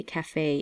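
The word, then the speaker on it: café: French language I believe like cafe it's CAF II but it has the mark above the e so that's why we say cafe instead of just K for CAF okay the number three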